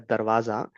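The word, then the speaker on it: दरवाज़ा: So we consider the word do uh door which is uh pronounced as darwaza uh in Hindi uh in the danagi script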